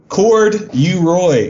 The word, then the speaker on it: Corduroy: But Corduroy is how you spell it, 3 syllables.